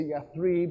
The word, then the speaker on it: Yathrib: He ends up in 622 doing the Hijrah, which takes him to Yathrib, which on this map is spelled Yatrib.